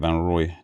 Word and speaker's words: Van Roij: One tip for the name Van Roij or Nijmegen is IJ is pronounced as Y. So Van Roij is pronounced like Van Roy.